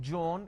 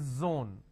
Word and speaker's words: zone: jar it's a mispronunciation it's not jibra it's zebra it's not john it is zone it's not g it is zeal it's a z sound another mistake that people